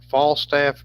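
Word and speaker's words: Falstaff: uh fall stuff beer i guess how you pronounce that fal fall staff beer f-a-l-s-t-a-f-f that was a brand of beer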